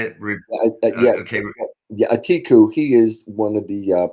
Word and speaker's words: Atiku: Atiku, he is one of the presidential candidates that's right.